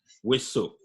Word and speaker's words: Houessou: Houessou. Houessou. Yeah, Yeah. I pronounce it very well.